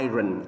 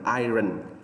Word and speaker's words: iron: thì chúng ta sẽ, cái âm R này sẽ là nó bị câm đi. Đây là nguyên tắc âm câm ở trong tiếng Anh. Thì khi chúng ta đọc lên, chúng ta không có đọc là iron, iron, mà chúng ta đọc là iron, iron, iron.